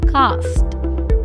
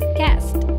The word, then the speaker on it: cast: It is often incorrectly pronounced as cast. Please remember, A here will be pronounced as E and not A. So the correct pronunciation of the word is cast.